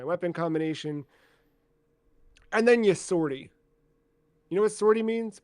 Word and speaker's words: sortie: actually pronounce it, but it's French for exit, Okay, I believe. I believe that. I mean, it's pronounced sortie. Sortie. Okay. What it is in Or French? I don't know. Pretty We sure it's butchered it in English, but yeah, English voiceover it definitely calls us sortie.